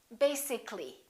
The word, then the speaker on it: basically: let me show you when we say the word basic it has two syllables if we add a l l y we don't say basi ca li this a disappears so the a is not pronounced and we say basically take a look at